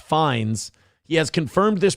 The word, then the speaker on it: Fiennes: The first name Ralph uses the Old English pronunciation Rafe, and the last name Fiennes is, Fiennes is pronounced Fines.